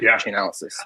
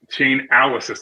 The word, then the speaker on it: Chainalysis: Chainalysis. I'm going to check that out because it's an interesting Chainalysis. Okay, yeah, just exactly like it's spelled, chain and analysis.